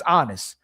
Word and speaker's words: Aanis: His name's Honest, but it means peace. It's spelled Aanis, right?